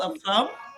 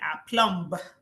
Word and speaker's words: aplomb: Now it might interest you to know that the B there is silent. You cannot say a plumb or a plump on all of that.